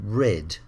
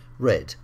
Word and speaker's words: read: and read changes to red but a bit like um say you've got to be careful because the spelling doesn't change but the pronunciation changes read read the next group tell